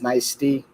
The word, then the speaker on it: Nicety: Apparently, I've been calling Nicety the whole time. I was calling her Nicety, but apparently it's Nicety, like iced tea.